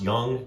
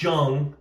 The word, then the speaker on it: Young: His name is pronounced young, not Jung, as I've been saying the whole time is doing this, but it's his it's pronounced Young.